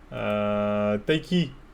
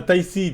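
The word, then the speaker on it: Tayc: Ah, Taïsi, putain, pourquoi je dis c'est Taïsi, c'est vrai, mais c'est Taiki. T-A-Y-C.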